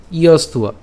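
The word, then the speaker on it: যস্ত্বা: তাহলে আমরা উচ্চারণের সুবিধার জন্য একটু যদি আমরা এভাবে লিখি ইয়স্ত, এরপর উয়া, ইয়স্তুয়া, আমরা একসাথে বলবো ইয়স্তুয়া, ঠিক আছে?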